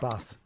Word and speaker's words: Bath: Yeah, Bath. We're up here in Yorkshire. I think you'll find the locals pronounce it Bath.